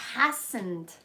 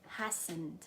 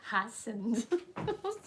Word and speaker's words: hasten: Ah, hastened. Tu vois, j'y étais presque. F-H, ne? Hastened. Fastened. Hastened. On va vérifier la prononciation.